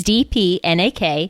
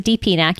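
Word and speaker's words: DPnak: they really leave off but it's DP nak I pronounced a DP nak you can pronounce it however in the world you like whatever floats your boat but the name comes from my name DP nak all shortened in and smushed together removed any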